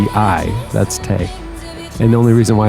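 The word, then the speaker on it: Tei: That's Tay. And the only reason why I know it's pronounced Tay is cuz she said, "I'm Ti.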